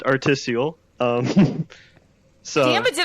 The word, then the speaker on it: artisiole: But we have Artis Seal here playing Vertigo Remastered New Game Plus on the Oculus Rift. So take it away. Yeah. Hi. Hello. It's pronounced articial.